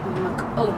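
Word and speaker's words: McKeown: It's written by Greg McCone. I hope I'm pronouncing it right.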